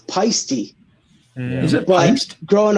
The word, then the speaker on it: Paiste: So I've been playing drums since I was 11, and technically I pronounce it wrong. It's Paisty.